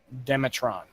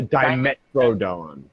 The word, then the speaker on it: Dimetrodon: you go to the dinosaur that you're directed to, and it's this old-looking Demetron. How do you say that? Oh, I know what you're talking about. It's a Dimetrodon.